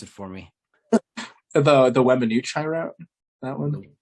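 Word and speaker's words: Weminuche: You go ahead and pronounce it for me. The Wemanooch high route, that one.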